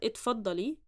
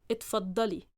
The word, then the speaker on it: اتفضلي: Correct, diacritics wise, but stress wise, it's not اتفضلي, rather اتفضلي. اتفضلي. Yes. I think in the Levantine accent, اتفضلي, they would change the stress on the syllable. So the Egyptian way, how to say this, اتفضلي.